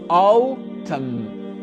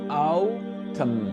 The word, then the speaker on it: autumn: Donc ça va être O, O, autumn, autumn. D'accord? Donc le N ici, il n'est pas prononcé. C'est comme s'il n'existait pas. D'accord? Donc ça donne autumn, autumn.